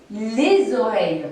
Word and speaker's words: les oreilles: Et comme le mot oreille commence par voyelle, vous devez noter que la liaison, c'est-à-dire la prononciation du S final de l'article les, est obligatoire.